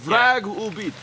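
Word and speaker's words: враг убит: It's like V-R-A-G beat. Vragubit? Vragubit. Vragubit. Vrag means enemy. Obit is like obituary.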